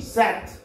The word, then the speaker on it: sept: and French but the pronunciation is C's SIX pronunciation C's 7 SEPT SAT SEPT SAT 8 HUIT with HUIT with 9 NEUF NAF 9 NEUF NAF and 10 DIX this.